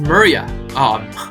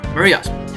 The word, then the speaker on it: Merja: It's pronounced Maria. Maria.